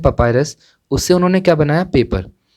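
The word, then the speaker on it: papyrus: सो जो इजिप्शियंस थे उन्होंने पेपर बनाया किससे, एक प्लांट का नेम है पपायरस, इसका प्रोनाउंसिएशन है पपायरस।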